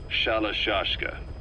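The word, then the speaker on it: Shalashaska: Someone must have known about that, because somewhere along the line, Shashka got stuck on the end of Sharashka. The guerrillas were using the name amongst themselves, and by the time I got to hearing about it, pronunciation had wound up as Shalashashka.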